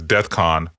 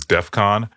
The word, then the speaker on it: DEFCON: says in the Tweet he says death con you know um and that's that's not the way it is pronounced it's Defcon you know and there's